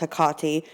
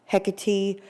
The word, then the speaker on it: Hekate: but it's actually pronounced haati now in some cultures people say it more like hecki other cultures they completely leave the H off and say it like aati it just depends on